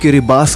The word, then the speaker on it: Kiribati: गिरी बाटी जाता है लेकिन यहां के लोग पेस को किरबास बोलते हैं क्योंकि गिरी बातें की लोकल लैंग्वेज में टी को एफ के तोर पर प्रोनाउंस किया जाता है इसीलिए हम भी आपसे